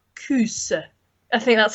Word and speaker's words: kos: it's lovely yeah so you spell it Kos but it's sort of like coos I think that's how you pronounce it coos like that so it's